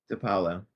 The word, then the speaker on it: DePaolo: How do you pronounce your last name? Depalo.